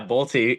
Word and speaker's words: Bolte: Yeah. Bolty. He did it good. He pronounced the E. Not a lot of people do it.